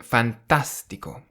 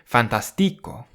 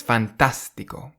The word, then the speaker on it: fantástico: So you say fantastico rather than fantastico or fantastico. It's fantastico.